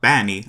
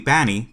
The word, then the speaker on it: B4NNY: It's spelled B4NNY, and in Elite speak 4 usually is an A, so it would be Banny. But it looks like the word bunny, so I don't know what's up with that.